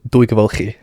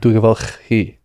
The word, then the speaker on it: Dwygyfylchi: In a town called, my village was called Dwygyfylchi.